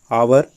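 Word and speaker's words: hour: आवर, इसमें भी H silent है और अ की आवाज़ आ रही है, वॉवल की आवाज़ आ रही है, तब भी एन लगेगा।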